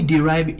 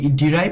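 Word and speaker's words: derive: তারপর আমরা বলবো আই ডিরাইভ immense pleasure from dash, আমি ড্যাশ থেকে প্রচুর আনন্দ লাভ করি। এই ডিরাইভ শব্দটার উচ্চারণ কিন্তু আপনারা ড্রাইভ বলে ফেলতে পারবেন।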